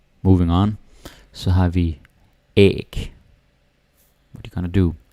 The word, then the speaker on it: æg: And here we actually have a hard G.